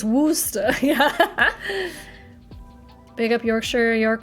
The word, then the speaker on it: Worcester: Yeah, but how do you pronounce it? Worcester.